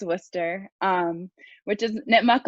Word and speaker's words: Worcester: that's the one thing i'll correct because it's spelled like worcester but it's worcester um which is knit muck land um but